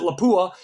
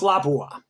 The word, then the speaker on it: Lapua: tell you something this here is a 338 Lapua okay some people pronounce it laua but it's a fin Finnish word um and it's pronounced Lapua but at any rate that is used for